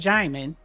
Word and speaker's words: Djimon Hounsou: It's pronounced Djimon. Djimon. Yeah. Djimon Hounsou, right?